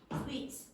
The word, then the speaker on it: sweet: So, some Italians will pronounce that S like a Z sz.